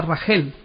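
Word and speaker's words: רחל: cuatro mujeres, sino con Raquel, que en hebreo se pronuncia Rajel.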